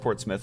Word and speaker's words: Portsmouth: parents at me okay um also it is pronounced Portsmouth I wasn't just messing with myself in my